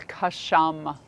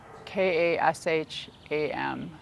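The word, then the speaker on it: Ksham: sound for this Center the only one with two syllables it's custom ka SH am custom holding awareness at the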